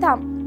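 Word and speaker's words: thumb: ऐसे ही हम बोलते हैं थम, तो ये होता है थम, पर इसे हम थंब नहीं बोलते, इसे हम थम बोलते हैं। ठीक है, क्योंकि M के बाद B हो जाता है साइलेंट।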